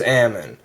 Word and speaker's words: Ammon: Now that's rather odd, because in the modern era, in order for people to pronounce it correctly, they started adding another M. In fact, my name is Ammon. A-M-M-O-N.